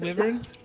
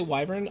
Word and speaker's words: wyvern: that's fine that's yeah I've always said River I've heard people say wyvern I can imagine both of them are correct can everyone see I mean it's probably some like some like Celtic pronunciation originally that's you know supposed